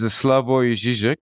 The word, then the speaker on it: Slavoj Žižek: So the pronunciation is Slavoj Žižek, but you write it Slavogzizek, something like that.